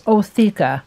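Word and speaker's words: ootheca: after mating just once I heard the name of the egg cases pronounced many different ways the main one that I heard pronounced was otha so I'm going to put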